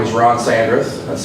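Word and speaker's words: Sandreth: the viewings good morning my name is Ron sandras that's spelled s-a-n-d-r-e-t-h um I'm actually here representing two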